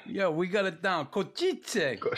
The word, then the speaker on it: Košice: Košice. Is that how you say it? Yeah, Košice. Yeah.